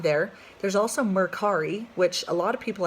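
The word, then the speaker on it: Mercari: hefty fee so maybe not there there's also Merck Hari which a lot of people haven't heard of it Merck re is spelled M er CA RI and they do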